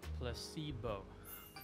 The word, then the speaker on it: placebo: today repeat after me placeo the stress is on the middle Sy Placebo very good you're fing